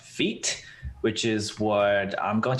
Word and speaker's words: Vite: some people are like, if Vite is pronounced in the French way, then why isn't Vue pronounced in the French way?